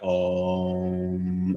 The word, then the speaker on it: Om: and an Om literally would just be like, Om, and you just draw out that syllable for as long as you can.